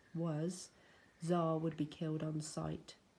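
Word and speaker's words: Xar: once smelled never forgotten czar pronounced czar I don't know why spelling he's weird was a wild young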